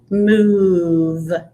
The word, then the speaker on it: move: of the v move and the o it's not saying ah it's not saying oh it's saying something else it's going ooh but your mouth still kind of makes that ooh sound that ooh shape so it's move but no english word